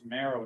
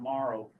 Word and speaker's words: Marrow: And it's Marrow, not Morrow, for the record.